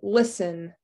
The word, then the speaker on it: listen: don't hear that w answer also that w is silent rhyme r i i don't hear the h and listen listen betty there you go this is kind